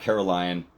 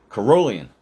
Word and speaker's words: Carolian: It's not Caroline, even though I want it to be. I don't know why. Carolian.